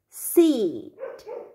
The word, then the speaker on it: seat: là ngồi ấy, thì cái từ seat, seat, con kéo dài âm y này ra, seat, tức là nó là gì đấy nhỉ? Cái ghế đúng nhỉ?